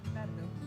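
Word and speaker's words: Pärnu: north coast, and we're in a town called Panu. Is that how you pronounce it, Kika? Panu.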